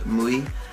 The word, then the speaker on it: Mooi: It's called Mooi. It's spelled M-O-O-I, and I am obsessed with it.